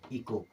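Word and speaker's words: echo: खत्म यानी कि साइलेंट अब ई सी एच ओ एच के बाद में ओ आया मतलब एच गया अब इसे क्या पढ़ेंगे इको क्या पढ़ेंगे इ को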